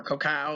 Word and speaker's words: cacao: a pizza you know cocoa or cacao is how you say it in their language or corn maybe you